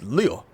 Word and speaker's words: Leo: It's written with the kanji for lion to be sure, but it's pronounced Leo.